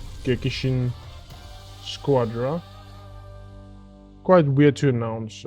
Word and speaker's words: Gekishin: to pronounce it because I want to say gecki geekshin squadra but it's gekkishin always forget the i.